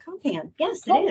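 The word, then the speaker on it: KOMPAN: Is it pronounced Compan? Compan, yes, it is. Compan.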